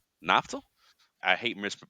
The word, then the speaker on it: Naftal: Naftal. Yep. Naftal. I hate misp pronouncing names.